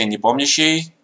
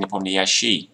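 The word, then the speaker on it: Nepomniachtchi: see what he's doing of course in Russian you say in the pony she with the accent on the second vowel and yes very strange that in English people like to say upon the s she like the accent doesn't last yeah it's pretty strange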